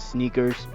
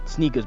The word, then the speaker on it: SNKRS: it for a while it's called sneakers i believe they spell it s-n-k-r-s is how they